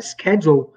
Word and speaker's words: schedule: Essa palavra schedule, que eu prefiro pronunciar schedule, também se pronuncia schedule. É menos comum, mas às vezes você pode ver alguém pronunciar schedule. Também tá certo, tá? Não tá errado, não.